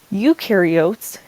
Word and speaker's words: eukaryotes: they are generally smaller UK carots the EU is pronounced U and you are a